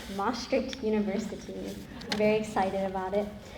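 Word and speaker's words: Emory University: Um first of all it is pronounced MRI University.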